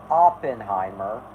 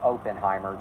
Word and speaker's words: Oppenheimer: Pictures yes I am aware it is actually pronounced Oppenheimer not Oppenheimer but I just think Oppenheimer sounds better or I just think open Heimer just sounds better I don't know what it